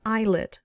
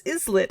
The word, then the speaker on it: eyelet: I thought, well, that's pronounced eyelet, right? But I don't know. Maybe it's islit and I'm just wrong. But no, it is eye is eyelet.